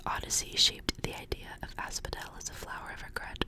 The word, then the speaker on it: asphodel: the as Asphodel asphodelus I think it's like Asphodel I'm assuming it's supposed to be like an F pronunciation for the pH but it says its